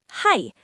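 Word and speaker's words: はい: Hai, that's yes. Simple, right? Let me say it slowly. Ha, I, hai.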